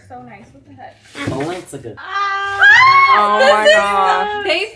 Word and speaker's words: Balenciaga: Balanzaga. That's how you say it because I never really want to say it. No, it's Balenciaga.